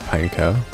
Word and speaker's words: Pineco: wow he lived so do you pronounce it as pineco or pineko it's I think it's pineco okay because it's a pine cone I don't know that's what makes sense to me yeah I think the the correct pronunciation is no like Eco but with pins eco-friendly oh got it